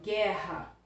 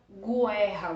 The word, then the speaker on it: guerra: pronunciado por exemplo em guerra O que é você não fala Gu erra você fala guerra Então esse Conjunto G u que tá vindo antes do é oo não é pronunciado então é dígrafo tá